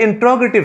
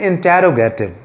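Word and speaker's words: interrogative: इंट्रोगेटिव sentence से क्या मुराद है, इसको मोस्टली स्टूडेंट्स क्या प्रोनाउंस करते हैं, वो कहते हैं इंटेरोगेटिव, but this is इंट्रोगेटिव sentence. Again I am pronouncing it इंट्रोगेटिव sentences, यानी इसको उर्दू में हम सवालिया फ़िक्रे कहते हैं, सवालिया फ़िक्रे।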